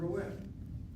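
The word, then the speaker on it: ראה: The word ro'eh with an ayin, the word ro'eh with an aleph are both pronounced the same way, ro'eh and ro'eh. But they are two different words by virtue of the fact that one has an ayin and one has an aleph.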